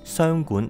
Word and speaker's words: 箱館: 在日文发音里面，商馆和函馆是同音。